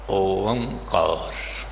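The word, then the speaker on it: ਓਅੰਕਾਰ: तो इसका उच्चारण होया ओंकार।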